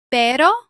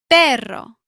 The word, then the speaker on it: perro: Pero or perro? The answer is perro with a strong double R.